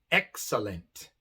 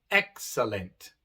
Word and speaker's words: excellent: tenemos tres letras e la sílaba de medio es la no tónica la que no es acentuada para nada y por eso se pronuncia a con el shua mientras que las otras